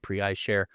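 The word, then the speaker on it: PreiShare: Pre eyeshare easy to find prey eyeshare and um I I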